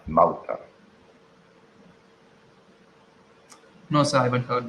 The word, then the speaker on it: Malta: Mulcha. No, so I haven't heard that before. Mulcha. I type What? it for you. I'll Yes, sir. type it. What? Actually, the pronunciation is. Malta, Malta.